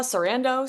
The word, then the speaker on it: Sarandos: Sarandos?